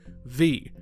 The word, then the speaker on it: VVVVVV: forgot about until recently, V. And yes, that's apparently how you're supposed to pronounce it.